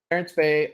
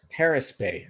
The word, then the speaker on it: Terrace Bay: Terrace Bay. I Oh, guess Terrace. I'm Okay, not saying it right. I'm saying it with my Canadian accent. Terrace Bay. I'm saying Terrence.